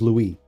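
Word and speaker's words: Louis: Yeah, that's fair because you know the thing like we say Lewis but I think the French version is Louie Luis.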